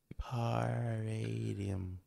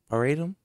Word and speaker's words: paradigm: the new album again come on floyd paradium paradigm yeah i said it right i'm going to